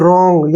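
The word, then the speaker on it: wrong: clear गंग अब देखिए यहां पर रंग य डब्लू साइलेंट रहेगा जब भी आर से पहले डब्लू है तो डब्लू वहां पर तकरीबन साइलेंट रहता है स इसको लिखेंगे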